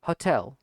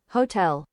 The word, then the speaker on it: hotel: Hotel hotel hotel hotel hotel Yeah. What about British pronunciation? Hotel hotel. Accent hotel. Accent on the last syllable.